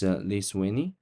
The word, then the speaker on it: Lithuania: time to check the pronunciation. How can I help? Lithuania. Lithuania. Lithuania. It's Lithuania.